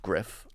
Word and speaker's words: Gruff: it is I mean it's a Welsh name and so it's pronounced Griff Welsh vowels have nothing